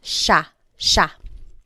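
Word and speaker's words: siya: And again, just to point out the pronunciation, it looks like it should be pronounced, but it's usually pronounced sha sha.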